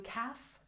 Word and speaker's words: calf: knives and this one we don't say the L Sound one calf two calves One Roof two roofs